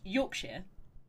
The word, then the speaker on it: Yorkshire: Which is pronounced Yorkshire, but I was Yeah.